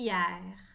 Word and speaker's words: hier: et quatre lettres h y eu r puis hier une fière je n'entends pas le cash leçons et s'écrit avec la lettre e hier écrivez le